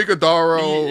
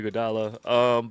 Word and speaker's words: Iguodala: Yes, Soso Iguodaro. Yeah, you know, again, that's Archie what my dad. Badwin. That's how my dad pronounces Andre Iguodala.